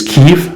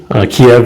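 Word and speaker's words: Kyiv: to pronounce that nowadays apparently the politically correct way to do it is kiev kiev is the russian pronunciation so let's just say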